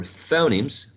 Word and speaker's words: phonemes: First, it's very important to remember that the pronunciation of this one includes the first syllable as the stress syllable. Okay, so you say phonemes, right?